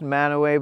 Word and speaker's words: Mantua: snowstorm in Northern Utah in a place called manaway it is pronounced manow but it's spelled m a n Tua don't